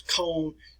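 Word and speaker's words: Köln: german city such as cone this is what cone looked like in the aftermath that church was at cone cathedral we pronounced it cologne but the icon cathedral it was damaged but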